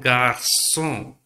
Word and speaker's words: garçon: And garçon.